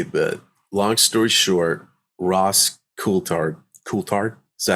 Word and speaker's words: Coulthard: And I think a lot of people will understand what I'm about to say, but long story short, Ross Coulthard, is that how you say it? Coulthard?